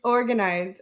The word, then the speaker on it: Organ Eyes: are doing within the organize everybody everybody mispronounces it they think I'm selling organs it's organized um and we really